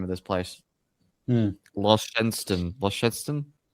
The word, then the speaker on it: Launceston: I can never pronounce the name of this place. Launceston. Launceston, yes, there we go.